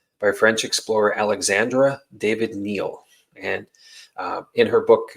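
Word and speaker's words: David-Néel: a v i d hyphen Neel but it's pronounced Neil um so uh in this era where she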